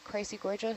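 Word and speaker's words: Chrysogorgia: happen so what's the so crazy gorgeous crazy gorgeous that's it that's how you say it yeah okay so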